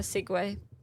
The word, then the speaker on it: segue: A segue. A seui. Yeah. Cuz that's how it's spelled.